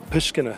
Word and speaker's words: Pushkina: The street I mentioned that we're going to be doing our classes there in Uman, Ukraine, is Pushkina Street.